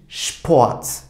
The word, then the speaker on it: Sport: Bir sonrakine baktığımızda S, P bir arada kullandığımızda Şp. Örneğimiz de neymiş? Sport.